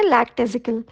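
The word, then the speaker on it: lackadaisical: लेगेटेजिकल, लैक्टेजिकल, सही प्रोनाउंसिएशन है लैक्टेजिकल, और इसका मीनिंग हुआ भावुक।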